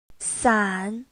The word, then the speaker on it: 伞: 伞 Please listen carefully, it only has 1 syllable.